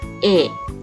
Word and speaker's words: เอะ: สระเกะ นะ คะ เป็น สระ เสียง สั้น นะ คะ อ่าน ออก เสียง ว่า เอะ โดย มี สระ เอ